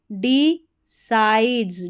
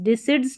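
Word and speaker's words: decides: T dent student who डी साइड्स डी साइड्स डिसिड्स नहीं पढ़ना है डीसाइड्स सी आई को यहां पर साई करके पढ़ा जा रहा है डिसाइड्स टू स्ट एस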